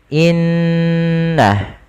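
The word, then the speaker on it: إِنَّ: nun yang berharakat tasydid cara membacanya yaitu menahan suara ghunahnya dan menahan suara nnya sepanjang dua harakat baru dilepaskan seperti apa seperti ini Inna tidak langsung dilepaskan secara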